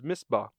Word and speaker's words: Misbah: chapter, and the name of the town is Misbah.